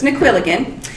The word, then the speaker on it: Naquilligan: In case you can't pronounce that, it means of Quillen, but it's in Irish, so it's Naquilligan.